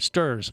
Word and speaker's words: Sturz: And we are also joined by Sturge, or Sturge. I want to make sure I say it right. Sturz, S-T-U-R-Z.